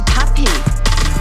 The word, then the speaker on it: Papi: P-A-P-I 发音还是 puppy。